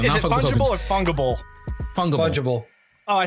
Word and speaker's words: fungible: fungible. Fungible. Oh, I said it right. I Fungible? said Is it it right. fungible? Fungible. Like fungus, but a bowl.